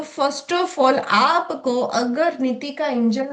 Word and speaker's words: नितिका: First of all pronounce भी लोग गलत करते हैं। निकिता कहते हैं पर यह निकिता नहीं नितिका है।